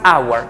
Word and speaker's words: hour: una hora miren que la pronunciación aquí de esta no se pronuncia el sonido de la H simplemente suena a vocal agua profe Yo también puedo decir one hour claro también podemos decir